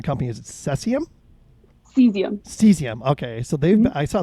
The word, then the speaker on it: Cesium: name of the company is it cecium cesium cesium okay so they've i saw they were named